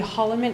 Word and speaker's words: Holliman: Hallaman is present. That's Mr. And you are? I'm Mrs. Gerlach. And his last name is actually Holliman.